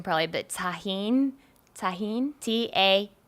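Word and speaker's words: Tajín: that um thumb I'm gonna mess at this pronunciation probably but Tajin tajin ta g I in i n it's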